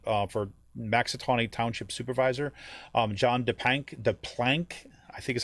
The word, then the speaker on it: DePlank: Okay, it is DePlank. Shireen said. She gave me the pronunciation.